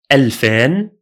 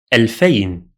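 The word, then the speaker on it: ألفين: The number 2000 has two forms as well, alfan or alfayn. In speaking, just stick to the second one, alfayn.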